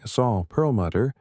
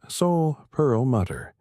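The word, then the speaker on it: Saul Perlmutter: The supernova cosmology project led by Saul Pearlmutter, pronounced soul pearl mutter at the Lawrence Berkeley National Laboratory in California.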